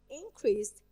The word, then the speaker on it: increased: So I say increased. I stress the first part.